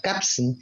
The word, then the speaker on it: kapsn: La palabra, procedente del hebreo, que en yiddish se pronuncia kapsn, designa a alguien sumamente